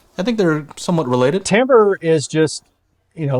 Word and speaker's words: timbre: exactly all right let's you want to pronounce this one timbre all right i still don't like it i still don't like that it's pronounced timbre it's still stupid i can change it well let's just everybody call it timber and then put like